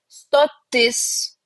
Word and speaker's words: stotis: The feminine nouns usually stressed on is. Stotis, so station. Pilis, castle. Pilnatis, full moon. So it's usually we stress the last syllable on these, and like